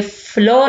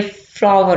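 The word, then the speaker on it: flour: Next है don't put द फ्लावर ऑन द फ्लोर, ये फ्लोर नहीं इसको कहेंगे हम, ये फ्लावर होगा, फ्लावर, जैसे हम फूल की प्रोनाउंसिएशन करते हैं फ्लावर, इसी तरह इसको फ्लावर, फ्लावर होता है आटा, फ्लोर होता है फर्श, ठीक है।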